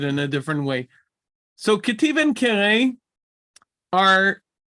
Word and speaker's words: Ketiv: Ketiv, pronounced Ketiv. I just wrote it with a bet and a line underneath, but it is really pronounced like a V.